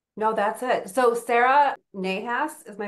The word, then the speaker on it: Nahas: about your name what it means how to pronounce it properly CU I probably messed it up no that's it so Sarah nahas is my M name is my last